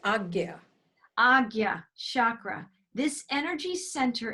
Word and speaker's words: Ajna: It's the Agya chakra. It's Agya. Agya. It's spelled AJNA. Yeah, but it's pronounced Agya.